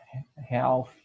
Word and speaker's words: half: Seria esse L que a gente não pronuncia, seria half, certo? Half, que não é half, certo? A gente não pronuncia esse L, é half, metade.